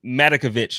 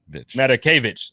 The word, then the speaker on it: Matakevich: My guy, Tyler Matakovich, or however you say his name, I always mess it up. Matakevich. I'm gonna write it like that. I'm gonna just put it on my screen. Matakevich. Just Matakevich.